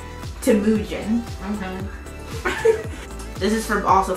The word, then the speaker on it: Temujin: His name was, pronounce it right, Temujin.